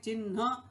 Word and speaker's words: चिह्न: पहले पढ़ रहे हैं चिन्ह, और यहाँ पर ह पहले आ रहा है और न बाद में, तो निश्चित है न का उच्चारण बाद में होगा।